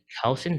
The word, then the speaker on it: Kausen: Civil Rights Department, 2218 Cowson Drive, that's spelled Kausen Drive, number 100, Elk Grove, California, 95758.